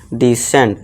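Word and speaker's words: descent: फिर से आ गया, एस के बाद सी हो तो उसे क्या कर देंगे, सी को साइलेंट कर देंगे, इसे क्या पढ़ेंगे हम, डिसेंट, ठीक है दोस्तों, डिसेंट।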